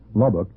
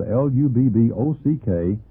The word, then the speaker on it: Lubbock: If you have any questions or comments, please write Bob at the International Sunday School Lesson Incorporated, Post Office Box 2711, Lubbock, Texas, 79408.